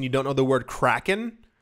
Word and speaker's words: Kraken: actual SE several people pronounce the crypto exchange Kraken as cren and I I if